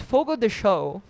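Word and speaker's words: Fogo de Chão: then I asked him how do I pronounce it in like Brazilian Portuguese and he said it's foggo the show and then I said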